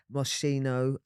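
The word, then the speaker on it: Moschino: UK garage were really into how they looked mosino and that is how it's pronounced cuz I had a bit of a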